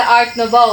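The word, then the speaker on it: Art Nouveau: so last is the art nov So it is pronounced by nov so art ofov ornamental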